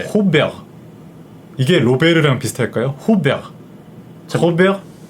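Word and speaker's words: Robert: 불어로 읽으면 두 음절입니다. 어떻게 되죠? 르가에 몸이 안 붙어요. 네. 호베르. 이게 로베르랑 비슷할까요? 호베르. 호베르 피레스. 자, 로베르 피레스가 허만 피레스 이렇게 해서. 네. 호베르 네.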